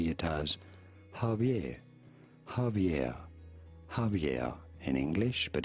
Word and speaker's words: Javier: Normally pronounced as Javier. Javier. Javier. Okay. With a B sound. Okay, it's Javier.